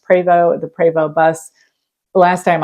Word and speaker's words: Prevost: dollar plus I know the preo which looks like Prevost if you see that going down the road that's pronounced preo the preo bus last